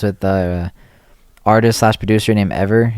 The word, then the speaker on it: EVRR: It's with the artist/producer named Ever. It's spelled EVRR !